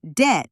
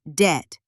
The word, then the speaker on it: debt: A lot of learners say debt with a B sound, but the B is silent. It's just debt.